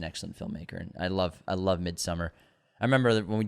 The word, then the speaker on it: Midsommar: And I love Midsommar. I remember that when we did an episode on it, I think back in 2020, we called it Midsommar, and we got, it's Midsommar!